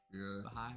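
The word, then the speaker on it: Bahá'í: I love to learn new things because the bah bahi bah I think is how you say it. Bahai.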